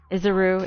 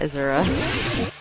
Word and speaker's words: Izuru: But the fact that he really is Izuru makes us all much more hopeless. I'm Izuru? Izuru, it's Izuru, not Izura.